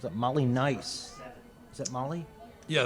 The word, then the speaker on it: Maille: Is that Molly? Yeah, it is pronounced Molly. Okay. It looks like a Gaelic spelling, Yeah. Maille, but it's Molly.